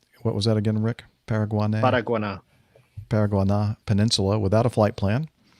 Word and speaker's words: Paraguaná: The Venezuelan Air Force detected an aircraft without a flight plan operating at a low altitude near, Rick, can you pronounce P-A-R-A? Paraguaná. Paraguaná.